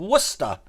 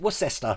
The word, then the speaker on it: Worcester: And if we go southwest of Birmingham, we come to a place called Worcester. Again, pronunciation. If you're American, you probably call it Worcester. But yeah, it's Worcester. That's what it's called.